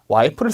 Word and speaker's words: wipe: wipe를 쓴다라는 거 기억을 해주실게요. wipe, P 발음 제대로 해주셔야 되고요.